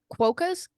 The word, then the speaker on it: quokkas: I recently Stay saw a TikTok from Robert, actually, where he said they just recently got quokkas. How do you say that? Quokkas, yeah.